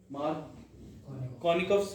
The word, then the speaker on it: Markovnikov: MA लिख लो, बाय MARKOV, मार्कोनिकस rule. NIKOV, मार्कोनिकस rule. Sir ये Russian था। मार्कोनिकस लो जी, ऐसे ही इसमें भी है मार्कोनिकस, ठीक है। मार्कोनिकस रूल, मार्कोनी, बस इसमें वी साइलेंट है।